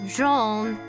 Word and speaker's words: Jean: Hello, it's pronounced Jean.